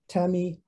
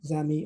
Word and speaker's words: ami: case of french amii which is pronounced tami or zami or nami depending on the preceding word uh in this paper